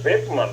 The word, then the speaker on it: Boeckmann: Esse segundo aí, o Bó de Cobogó, na verdade, se escreve Boeckmann, mas se diz Beckmann, né?